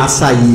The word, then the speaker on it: açaí: A gente sabe que em breve o açaí ou o açaí, cada um pronuncia de um jeito. Açaí é o correto. O correto é açaí, né?